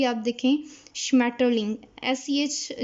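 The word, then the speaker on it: Schmetterling: और सबसे मज़े का जो वर्ड है वो है श्मैटरलिंग, श्मैटरलिंग कहते हैं बटरफ्लाई को, जो कि मतलब इंग्लिश में भी इतना मज़े का वर्ड है तितली के लिए, और जर्मन में भी आप देखें श्मैटरलिंग, SCH जो है वो शीन की आवाज़ देता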